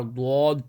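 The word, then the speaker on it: ض: Ya zabaya ha dwad bish hud. Strongly join. Dwad is we pronounce from the side of our tongue.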